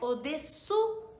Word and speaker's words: au-dessous: Então, só treina essas duas expressões, au-dessus, um número acima, um número maior, né, acima, e au-dessous, bem claro no U, que é a junção do O com U, tá?